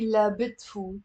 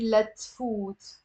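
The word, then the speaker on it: لتفوت: I cannot say la bit food. I have to say let food. So we drop the b.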